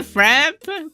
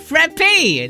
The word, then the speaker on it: frappe: It's because that's how you pronounce it. Frappe, latte, not frap or fap. Yes, it's frappe.